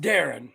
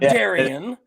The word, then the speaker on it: Darian: sailed Darren de is the coach it is pronounced Darren it is not Daren for those out there it is Darren deves